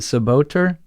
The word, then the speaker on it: Czebotar: is almost impossible in the english language to pronounce it's is it saboteur yeah the boater it's about okay it's spelled